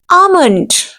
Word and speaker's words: almond: Almond. L will be silent.